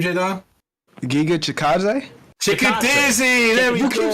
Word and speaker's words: Chikadze: That's how I say it. It's not Chickadaisy. J-Dime knows how to say it, but it's... How do you correctly say his name, J-Dime? Giga Chikadze?